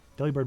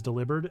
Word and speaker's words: Delibird: Because some people will say that Delibird is delivered, and I refuse.